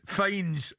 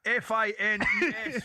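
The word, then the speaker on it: Fiennes: He says bump bump bump Joseph finds pronounced fines. It's the best in history. It was written down open bracket brackets pronounced f i n e s fines closed brackets and event pronounced fines.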